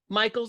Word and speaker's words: Meikle: It's spelled in a certain way. Michael's acceptable, but it's is what you're going to want to remember.